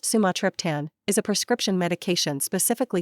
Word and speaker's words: Sumatriptan: Sumatript, pronounced sumatrian, is a prescription medication specifically formulated to treat acute migraine headaches.